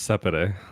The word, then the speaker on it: Separer: How do you say it again? Oh, it's Separer.